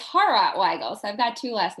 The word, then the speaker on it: Hawrot Weigel: a special guest it's Weigel did I pronounce that properly yeah it's horror why go so I've got two last name it's kind